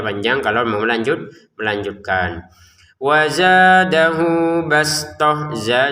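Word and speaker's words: بسطة: Wazadahu bastoh, za 2 harokat. Bastohnya bastotan kita baca bastoh karena kita berhenti. Jadi huruf ta-nya terbacanya ha. Wazadahu bastotan fil ilmi wal jism.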